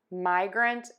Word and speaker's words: migrant: at these two words: migrant and migraine. So the first part of this word is like saying my.